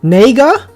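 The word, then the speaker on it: 那个: n-word and and um in chinese for that is and i want to pronounce this correctly it's nega nega yeah but when they say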